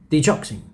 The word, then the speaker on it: digoxin: Because yes, apparently it's pronounced digoxin.